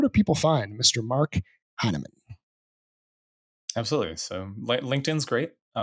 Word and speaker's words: Hinaman: Mark Hinaman? Absolutely. So LinkedIn's great. Mark, right? We talked about the pronunciation, but the spelling is just like Chinaman without the C.